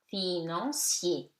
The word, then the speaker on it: financier: Financier. I-A-I-E, four vowels, so polysyllabic. And it becomes financier.